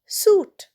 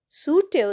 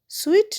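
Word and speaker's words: suit: এস ইউ আই টি সুট। সুটেও দেখো আইটা কিন্তু সাইলেন্ট। সুইট নয়।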